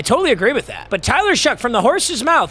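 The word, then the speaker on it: Shough: But Tyler Shuck from the horse's mouth. He says it's pronounced shuck like you know like huck like you'd huck corn.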